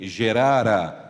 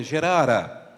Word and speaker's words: Gerar: rei dos filisteus em gerará talvez na sua versão esteja a palavra gerar mas a pronúncia correta é gerará e diz o versículo